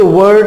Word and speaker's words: were: तो फ्रेंड्स, इसको वेयर नहीं बोलना है, वर होता है ना, वर वधु, वर, वोज वर।